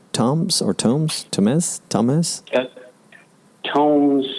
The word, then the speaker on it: Tomes: Tomes, like with a long O, Tomes.